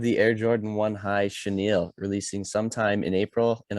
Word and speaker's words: chenille: fuzzy swoosh which i've learned this morning is pronounced chenille not chenille or chenille or chinchilla or anything like that but uh chenille so that is what we have that is